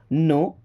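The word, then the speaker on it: know: नो। नो मी्स जानते हैं। देखिए यहां पर के और डब्ल्यू लिखा तो है बट यह साइलेंट लेटर है। यानी कि पढ़ने के टाइम में इनको नहीं पढ़ा जाता है।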